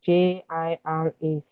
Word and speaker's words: Jira: I noticed um Jira your pronunciation of Jira. So J I R A I think you call it I can't remember what you call it but the pronunciation is Jira.